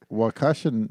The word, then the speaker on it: Waukesha: How about you fuck right off and we find out by a Waukesha night?